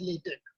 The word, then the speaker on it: LaTeX: with a k even though it's x it's pronounced as latex um so i'm going to talk about why